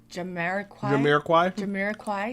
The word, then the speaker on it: Jamiroquai: Jamiroquai.